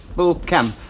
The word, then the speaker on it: Beaucamp: How do we pronounce it? French, is it? Beaucamp? Beaucamp, according to the locals, a bit of each.